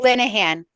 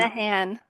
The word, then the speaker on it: Linehan: Linehan. Um, Linehan.